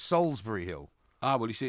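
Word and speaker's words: Solsbury Hill: It's not Salisbury Hill. How do you think it's spelt? It's Salisbury Hill. How's it spelt? It's Solsbury.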